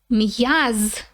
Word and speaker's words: м'яз: Muscle means м'яз. М'яз. So there's an apostrophe there, so pay attention to how we pronounce it.